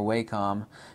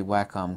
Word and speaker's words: Wacom: also to integrating my Wacom tablet or waycom nobody knows the correct pronunciation um actually Wacom calls it Wacom so I take that